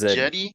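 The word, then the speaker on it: Cedi: see here oh hey we've been pronouncing seti osman's name wrong this whole time how is it it's jetty oh jenny yeah it's jetty yeah like yeah yeah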